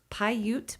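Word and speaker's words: Paiute: It's Pyute Park, Pi-U. I'm spelling that, you know, out saying it phonetically. Pyute Park at 402 Holly Drive in Colorado Springs.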